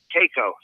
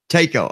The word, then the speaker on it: Tako: Pronounce your last name, Stephen, because I don't think I'm saying it right. Tako. Tako.